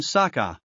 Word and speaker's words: Sokka: That's right, I'm Sokka. It's pronounced with an aka.